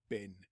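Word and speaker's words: בן: and this time we are going to be looking at this particular Hebrew word which would be pronounced bin pronounced Ben and it is a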